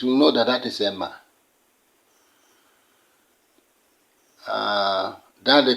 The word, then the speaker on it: Amen: are bound to say Amen but do you know the meaning how that word sounds let me pronounce it for you the word you are saying is not a it is called Emma Emma and the shorter one